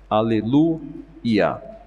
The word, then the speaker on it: Aleluia: Aleluia. E por que eu estou falando como se fala no hebraico? Porque é exatamente como está em português.